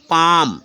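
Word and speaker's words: palm: ठीक है नेक्स्ट है पी ए एल एम पाम ठीक है पाम मींस क्या होता है हथेली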